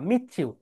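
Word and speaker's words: meet you: কোনো ওয়ার্ডের শেষ লেটার যদি টি হয়, শেষ অক্ষর যদি টি হয়, টি, এর পরের ওয়ার্ডের ফার্স্ট লেটার যদি ওয়াই হয়, তাহলে বিদেশিরা এটাকে বলে চ, প্রথম টিটা বলে চ উচ্চারণ করে, মিটিউ না, মিচ্ছিউ।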